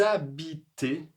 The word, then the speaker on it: habitez: Et la 2e question, est-ce que vous Alors attention ici ce H là n'est pas prononcé, donc il y aura une liaison un peu je l'ai dit un peu comme un Z. Est-ce que vous habitez à ?